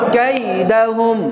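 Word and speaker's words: كيدهم: তাহলে উচ্চার কি হবে কাইদাহুম কাইদাহুম কাইদাহুম কাইদাহুম কাইদাহুম কাইদাহুম কাইদাহুম আবার বলেন কাইদাহুম তাহলে ক কাকা দিয়ে কাই রসই কাইদা কাই দ কাকা দিয়ে দা উচ্চারণ কাইদা হ কে রসকার হুম ম হুম কাইদাহুম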